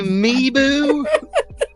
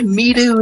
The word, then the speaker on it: Mibu: I needed to say Mibu. You said Midu instead.